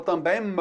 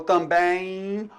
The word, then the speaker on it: também: Então também eu não falo também m, eu falo também. Olha só o som do i aí aparecendo também.